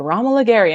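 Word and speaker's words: Romola Garai: announced the actors and it was like ramallah gary and i was like who and then i was like oh that's how you say it gary yeah that's how they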